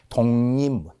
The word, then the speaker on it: 독립문: 독립문은 최종 발음 기호를 먼저 잘 생각해 보세요. 독립문. 되죠? 자, 3번 변한다라는 것은 기억이 이응으로 변했죠. 리을이 니은으로 변했죠. 비읍도 미음으로 변했죠.